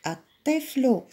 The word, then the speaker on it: الطفل: الطفل، نطقنا اللام ولا ما نطقناهاش؟ الطفل. ما نطقناش اللام، إذا هي شمسية.